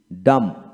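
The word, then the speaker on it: dumb: বি একসাথে থাকলে এবং বি এর পরে কোন ভাওয়েল না থাকলে বি এর উচ্চারণ বিশেষ করে হয় না লক্ষ্য করেন আবার বলবো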